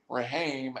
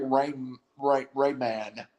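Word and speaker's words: Raimann: The tackle with a first-round grade from Central Michigan, Bernard Raheem, has gone. He slides. I'm saying his name wrong. It's like Rayman is gone to the Colts.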